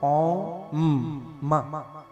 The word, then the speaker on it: ओम: अ उ ओ ओ म अ उ ओ आ में ओ की मात्रा